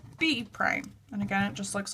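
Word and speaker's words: A′: Point they'll call that a prime and it looks like this it just has a little like um apostrophe above it and you pronounce that a prime okay so B starts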